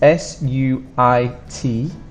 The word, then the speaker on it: suit: is nice and easy but suit is difficult it's s-u-i-t but there is only one sound and it's suit suit arc flash Hood arc